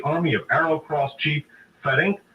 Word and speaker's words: Ferenc: the time of the 1941 German invasion, and Ferenc Farkas, F-A-R-K-A-S, the ABN military chief who commanded the army of Arrow Cross Chief Ferenc Zalati, S-Z-A-L-A-S-I, executed as a war criminal against the Russians in World War II.